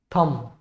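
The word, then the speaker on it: thumb: पे साइलेंट रहता है, तो इसमें कॉम, कम, थम, ये बी नहीं बोला जाएगा, इसमें भी ये बी नहीं बोला जाएगा, यहाँ पे भी नहीं।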